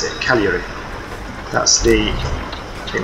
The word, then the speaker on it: Cagliari: How do I pronounce it? Cagliari.